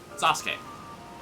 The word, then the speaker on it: Sasuke: Every time I hear S-U-K-E pronounced, I hear it pronounced Ske. Sasuke. Daisuke. So on and so forth. Well, if that's how you pronounce it, U is silent.